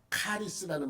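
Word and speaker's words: χάρις: 미장원 이름을 이걸로 붙였어 카리스는 말 들어보셨어요 카리스 헬라어로 은혜라는 말은 카리스 카리스 카리스는 거꾸로 읽지 않아요 똑같이 우리랑 우리처럼 읽어요 카리스 응 x 자가 기역으로 발음해서 카리스 이렇게 읽습니다 근데이 카리스 안에도 은혜라고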